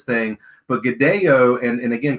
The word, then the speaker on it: Godello: That pronunciation in Spanish is Godello.